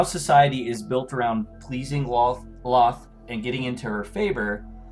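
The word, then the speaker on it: Lolth: Loth. Thank you. I always want to put another L in it.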